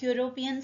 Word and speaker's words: European: man next example European the word European starts with letter e which is a vowel but its pronunciation starts with j your European so a consonant